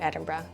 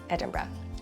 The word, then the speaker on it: Edinburgh: And it’s not Edin-borough. The correct pronunciation is Edin-bruh.